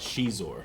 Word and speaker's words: Xizor: Xizor might be his first name. I don't know how it And I have no idea how to pronounce it. Some people call it She-zor.